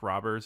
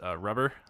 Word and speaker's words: Rober: There was that Mark Roberts video. Rober. I think it's pronounced Rober. I think it's pronounced Rubber. Mark Rubber.